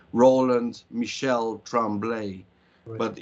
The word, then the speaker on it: Michel: And it's pronounced the same way.